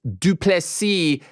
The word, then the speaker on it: Du Plessis: Dricus Du Plessis. The S is silent.